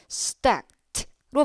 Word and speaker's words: stacked: 어 이렇게 E 앞에 K나 혹은 PT와 같은 이런 자음의 특징들은 크 성대가 울리지 않아요. 이런 자음 뒤에 놓여 있는 이는요 stacked로 발음이 돼요.